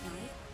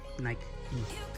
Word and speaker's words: Nike: It's not Nike. It's Nike. Nike.